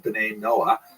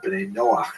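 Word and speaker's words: בני נח: And this is basically a Hebrew term, B'nai Noah, or B'nai Noach is the way Jews would pronounce it, that refers to all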